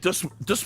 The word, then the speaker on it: Dust: We're going to be talking about, Dust Murray. Everyone's been pronouncing his name wrong for like, I don't know, 20 years.